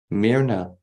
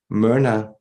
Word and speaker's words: Myrna: Her name that she speaks to us is Myrna. Myrna, that is, you might spell it with a Y-M-Y-R-N-A.